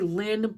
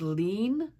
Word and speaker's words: Lin: So the characters are uh I say Lynn but I think it's pronounced lean lean.